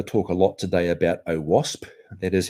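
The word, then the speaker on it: OWASP: I'm going to talk a lot today about oasp that is how you pronounce it um we'll come back to it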